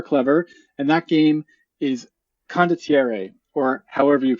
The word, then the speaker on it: Condottiere: And that game is Condottiere, or however you pronounce it. Yeah, so, you speak Spanish though, right? Well, it's Italian. Is that Spanish? Is it Spanish?